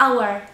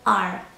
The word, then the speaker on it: our: W liczbie mnogiej trzy słówka, nasz, our, i możecie wymawiać to na dwa sposoby. Albo our jak godzina, albo our. Our lub our. Obie formy są poprawne.